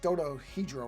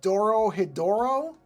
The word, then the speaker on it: Dorohedoro: I'm going to try to pronounce it correctly. It's like Dodohedro or something, isn't it?